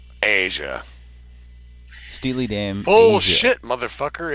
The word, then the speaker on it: Steely Dan: I really liked you in Steely Dan's Aja. She's got a STV, straight to voicemail. Remember how we were schooled today, Patrick, on how some of that shit was pronounced? Asia. Steely Dan.